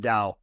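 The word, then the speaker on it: Tao: there yeah there's a beautiful passage in the Dow for those who it's it's it's spelled ta AO but it's pronounced Dao and I think it's the 49th verse and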